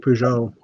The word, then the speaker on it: Peugeot: um oh yeah the Techno uh the Technic Peugeot um cars I said it right yeah you